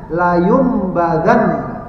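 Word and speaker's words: لَيُنبَذَنَّ: Kalau dicampakkan yumbad. Jadi bacanya la yumbadan.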